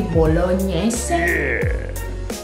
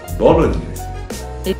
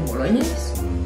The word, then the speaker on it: bolognese: Spaghetti bolognese. Bolognese. Is it right to say spaghetti bolognese? No. Nope. Bolognese. You say the last E in the word, bolognese.